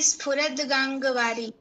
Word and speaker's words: स्फुरद्गाङ्गवारी: स्फुर जटा जटामध्ये स्फुरद्गाङ्गवारी। स्फुरद गांगवारी। स्फुरत, अच्छा आधा द होगा ना, हलंत द, क्योंकि मुझे ये स्तुति याद नहीं है।